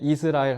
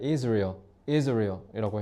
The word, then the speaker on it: Israel: 저거 is 그 이스라엘 미국 영어로 발음할 때 이스라엘 하면 못 알아들 Israel이라고 해 알아들어요. 참고로 Israel researchers study people's preferences for different types of lines as the New York Times notes.